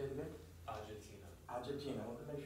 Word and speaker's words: Agetina: If I may ask you to pronounce her name for me. Agetina. Say it again. Agetina.